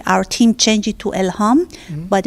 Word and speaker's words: Elham: And your name is spelled E-L-A-N? ELHAM, Elham, it means inspiration.